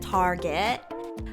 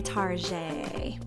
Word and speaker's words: Target: know what tarje is some people pronounce it Target but I like to say Tarjay okay the last finishing